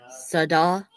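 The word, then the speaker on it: سدا: Only seen has Arab, zabar, in this word and produces the sound sa, whereas dal does not have Arab because it follows a vowel and sounds da.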